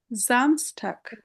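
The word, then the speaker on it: Samstag: এস এর পরে vocal থাকলে ভোকাল মানে ভাওয়েল থাকলে জ এর মত উচ্চারণ হবে। যেমন এখানে জামসটাক শনিবার।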